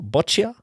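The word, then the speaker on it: Boccia: Is it pronounced Bokia? Botchia.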